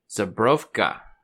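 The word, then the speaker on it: Żubrówka: try um so uh zabrofka that's how you say it's polish had to think about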